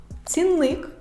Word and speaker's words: цінник: в і другий тест на перший склад падає наголос у слові цінник цінник течія течія русло русло випадок випадок правильно наголошені слова треба вимовляти так цінник бо цінник викликає Тик течія можна поставити